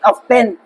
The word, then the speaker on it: often: Bakit often? Silent T yan.